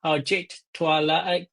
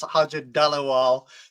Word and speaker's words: Harjit Dhaliwal: Today we have an amazing special guest called Ajit Twa. Sorry, I pronounced it wrong.